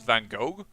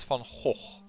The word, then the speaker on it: van Gogh: a Dutch painter that I am actually pronouncing it now on the way the English tend to do they tend to send Vincent van Gogh but it would be if you pronounce it correctly in Dutch Vincent Fong hole and don't worry it's